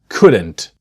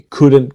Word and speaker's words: could: The L is silent. So it's not but could.